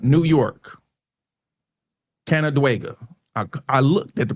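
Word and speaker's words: Canandaigua: Canadega, New York. Canadega. I I looked at the pronunciation pronunciation still got it all crazy.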